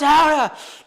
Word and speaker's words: Gouda: It's pronounced Hara.